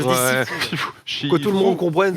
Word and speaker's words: Sifu: ça se prononce si fou. Je dis Sifu.